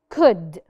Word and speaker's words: could: Could. Could. طبعا ما نطقناش ال L.